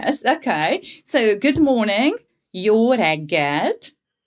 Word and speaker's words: jó reggelt: So good morning, jó reggelt. Jó reggelt. Jó reggelt.